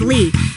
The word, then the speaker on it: Leigh: My middle name is Lee, but it's not spelled like you think. It's Leigh, and it means meadow, which is where I like to play baseball, out in left meadow.